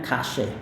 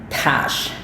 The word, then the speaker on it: cash: Karena saya dengar yang saya dengar banyak kali, mereka bilang kase atau kase atau kace.